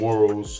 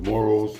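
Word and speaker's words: Moro: there was a group of rebels called the morrows excuse me I'm pronouncing it wrong it's m-o-r-o the morals and that Philippine American war went from like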